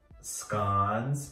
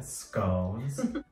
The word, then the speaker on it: scone: It had unlimited finger sandwiches, scones, which in America we call them scones. But according to the menu, it's pronounced scone, like gone, not scone, like stone.